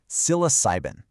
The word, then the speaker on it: psilocybin: It's pronounced psilocybin.